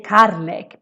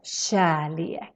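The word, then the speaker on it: kärlek: a so that's why the k sounds more like a sh sound this is super important so you don't say carlek because then you're going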